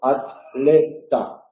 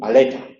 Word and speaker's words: atleta: y se dice Atlántico, atleta, atletismo. Hay que acordarse de pronunciarse, no decir atletismo, no decir aleta.